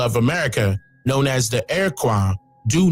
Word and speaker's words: Iroquois: It is not pronounced Iroquois or Iroquois. The correct pronunciation is Iroquois. This pronunciation reflects its Algonquin origin, which is evident in our English language today.